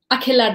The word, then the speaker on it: Akhila: I'm hoping I pronounced your name properly so Akila welcome to the program thank you you so much Christian I'm so glad to be here and how do you say your name Akila Das yeah it's a heart C sound that